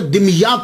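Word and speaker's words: دمياط: तो ये सैयद जमालुद्दीन साउजी फिर वहां से मुंतकिल हो गए, दिमयात चले गए। इसके बहुत सारे प्रोनाउंसिएशन हैं, लेकिन सबसे जो आसान है वो मैं आपको बता रहा हूं, दिमयात। ये दिमयात जो है ये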